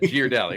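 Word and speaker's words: Ghirardelli: I said Girardelli. Right. We were saying the difference, right? It's not Girardelli because you don't say spaghetti. The H makes the G a hard.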